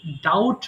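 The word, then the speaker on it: doubt: ডাউট বলে ফেলে অর্থাৎ মাঝখানে যে বি লেটার আছে বি লেটার কিন্তু উচ্চারণ হবে না এটা সিম্পলি কি বলবে ডাউট বলবে ডাউ বি এর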